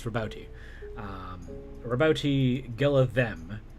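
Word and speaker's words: Roboute: which i found out you actually pronounce the e it's rabouti um roboti gill of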